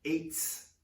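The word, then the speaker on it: עץ: C'est écrit E-T-S, etz, qui se prononce eitz.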